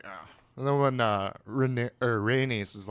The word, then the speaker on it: Rhaenys: Rhaenys is, how do you pronounce her name? Rhaenys? Rhaenys.